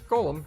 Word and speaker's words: Golem: He asked to be referred to by the last bit, which is of course Geolem. Much to his surprise, this ends up being pronounced like Golem anyway.